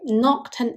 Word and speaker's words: Knockturn: Take Noctton Alley for example. Its pronunciation in British English is identical to nocta, a term used to